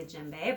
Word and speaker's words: djembe: it is from West Africa and it spelled d je mb e and it's pronounced djembe alright this is from the 12th